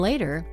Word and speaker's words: later: Now, did you notice that going to has become gonna, you become softer, and later, the word later, has stress on the first syllable, which is lay.